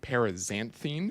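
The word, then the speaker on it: Paraxanthine: has a unique ingredient, Parisanthine. I had to look up how to pronounce it. literally Googled one of those YouTube videos how to pronounce parisanthine because it's an X, not a Z.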